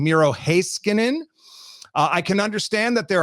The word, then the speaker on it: Heiskanen: The other one that Sean says, because my co-host went over to Finland, and he said, no, this is the correct pronunciation. Heiskanen, not Heiskanen.